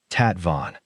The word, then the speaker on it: tastevin: He pronounced it carefully, tat vin, a tasting cup.